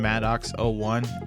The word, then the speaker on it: MADOX-01: Skin MADOX-01, and yes, that is how it's pronounced.